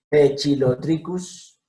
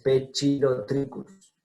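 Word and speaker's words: Poecilotriccus: Pechilotricus ruficeps. P. ¿Por qué P? O con E, E. C con I, chi. Entonces, Pechilotricus ruficeps.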